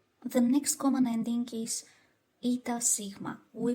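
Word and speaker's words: οι: and it becomes omicroniota which is pronounced as e so o becomes e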